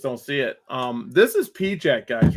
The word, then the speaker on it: PIJAC: Where is P Jack? Why is it so hard to find P Jack? Because it's spelled Pijac.